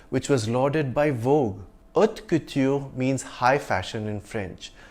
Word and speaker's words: haute couture: Haute couture means high fashion in French. The H is silent and the T is soft in French. So it's haute couture, not hot couture.